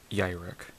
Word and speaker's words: Yrek: Anyway, this is Yrek, as you pronounce Y-Y-R-I-C-K, apparently.